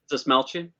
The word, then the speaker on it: Dastmalchian: name because I never had to pronounce it, David Dastmalchian. Is that right, Steve? You probably know. Dastmalchian? Yeah. Yeah, that's how you pronounce it.